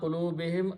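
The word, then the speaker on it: قُلُوبِهِمْ: For a smooth pronunciation, we pronounce whom as him also. So ala qulubihim, upon their hearts.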